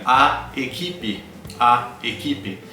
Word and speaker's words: equipe: Equipe se escreve com a letra E na última sílaba, né? Equipe, de fato. Mas nós dizemos equipe. Equipe, por quê? Porque a letra E é a última letra e ela sofre um processo de redução vocal.